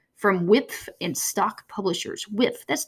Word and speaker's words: Wipf: the Introductory Papers on Dante, Volume 1, from Wipf and Stock Publishers. Wipf, that's W-I-P-F. I never knew how to pronounce that until I got ready for this podcast.